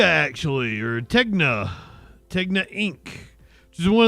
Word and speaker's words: Tegna: owned by Tinga actually or Tegna Tegna Inc.